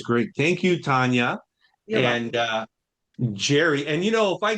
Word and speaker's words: Njeri: has introduced me is Jerry. It's a name with an N I don't know why there is an N so the N is silent.